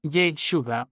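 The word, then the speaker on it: ישוע: Yel Shuda pronuncia lentamente. Yel Shuda siente como comienza ligero. Cómo se intensifica en el centro con ese SH cargado de fuerza y cómo termina no en los labios, sino en la garganta.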